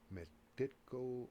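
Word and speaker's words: Megiddo: the valley is the m-e-g-i-t-d-o would be the spelling phonetically metico valley and uh theoretically according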